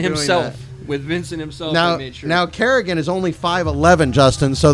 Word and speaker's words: Carignan: Kerrigan, yep. Or is it Carignan? Kerrigan, no, just Kerrigan. Carigan is how it's pronounced.